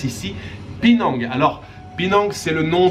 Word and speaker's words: Penang: Ça s'écrit P-E-A-N-G, mais ça se prononce ici Penang.